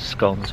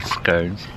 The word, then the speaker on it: scone: people call them scones it's a big argument whether to pronounce it scones or scones and it's an argument